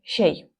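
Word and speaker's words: чәй: В татарском языке буква Ч звучит как Щ, поэтому тот же самый чей будет звучать как щей.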